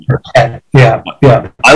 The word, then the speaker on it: Perkett: Yeah, it's pronounced like it should have an E at the end. Like after the two T's. Yeah. Because most people say Perkett. Perkett. But it's Perkett.